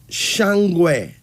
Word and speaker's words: Shangwe: And then there's, here's another one, Shangwe. Now, Shangwe is spelled Shangwe, pronounced though as Shangwe.